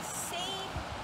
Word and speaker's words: seine: One is called a seine net. It rhymes with strain, and I know you know what strain means.